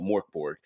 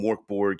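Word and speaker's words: Mörk Borg: Now, I understand that I am pronouncing it incorrectly. It's got the umlauts and all that kind of business, but in a tabletop community, it's been called Mork Borg.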